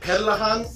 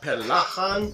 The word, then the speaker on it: perlahan: For example, the word for slowly, I believe, is perlahan, not pelahan.